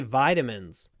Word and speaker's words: vitamin: vitamin tablets every day Americans say vitamins I take vitamin tablets every day vitamin vitamin vitamin vitamin the British version v v the it is short the V is long vitamin vitamin V VV